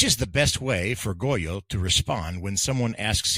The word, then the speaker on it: Goyo: Or C, I can state something that rhymes, like it's Goyo, which rhymes with pollo.